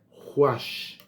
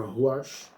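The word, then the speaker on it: רוח: A palavra espírito, em hebraico, é ruach. Ruach. Se tiver alguém aí, eu acho que a pronúncia é bem essa aí, ruach.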